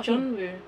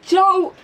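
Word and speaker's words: Jungwoo: Oh, Joe. Oh. I said it wrong, didn't I? Yeah, Jeonwoo.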